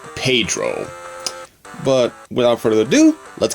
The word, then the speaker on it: Pedro: Which I always thought it was pronounced Pagiro. But it's actually supposed to pronounce Pedro.